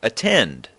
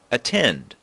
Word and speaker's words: attend: There are two syllables and we put the stress on the second: at-TEND.